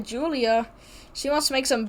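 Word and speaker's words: Giulia: We get Julia, spelled with the G for some reason.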